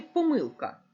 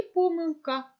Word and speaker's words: помилка: літерою г помилка чи помилка чи думали ви про це як правильно наголошувати запам'ятайте що це слово має подвійний наголос правильно говорити і помилка і помилка Протягом цього уроку ми